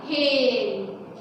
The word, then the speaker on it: hale: अब देखो sound of A with silent ई, देखो ये है HALE, HALE, ये क्या हो गया हेल, है ना। तो इसमें हे की आवाज निकली और ई कैसा रह गया साइलेंट, हेल हो गया ये।